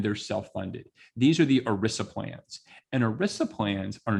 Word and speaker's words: ERISA: to do with something called erisa which rhymes with melissa because i kept mispronouncing it and that's how i remembered how to pronounce it erisa plans so erisa